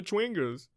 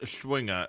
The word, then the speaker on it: Schwinger: are the creatures and sometimes the twingers uh it's it's pronounced schwinger randy i'm gonna turn